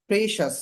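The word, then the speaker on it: precious: অথবা যদি সি থাকে তখনও শ্বাস উচ্চারণ হয়। যেমন প্রেশাস, দেখেন সি আছে, সি আই ও ইউ এস, শ্বাস, সি আই ও ইউ এস, শ্বাস।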